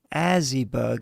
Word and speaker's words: Azybug: Azybug is how you pronounce it.